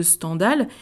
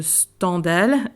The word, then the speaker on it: Stendhal: œuvres romanesques complètes de standal qui rappelle que cette prononciation de standal est attesté et notre ami Henry